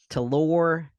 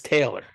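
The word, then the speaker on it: Talor: and yeah come on of course it's spelled stupid but it's Taylor I actually like Gooch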